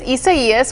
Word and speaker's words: Isaias: Isaias? Yes, you did pronounce it correct. It is Isaias, which is a Spanish name, and it's going to